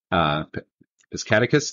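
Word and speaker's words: Piscataquis: And he told me how to pronounce that. So thank you, Bob. Piscataqua County. Piscataqua.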